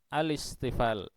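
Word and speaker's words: الاستفال: Mohon dicamkan benar cara membacanya, bukan al-isti'la tetapi al-isti'la. Bukan al-istifal tetapi al-istifal.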